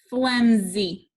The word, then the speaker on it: flimsy: What sound is that S making? Flimsy. It's saying Z, so we're going to put a line through it.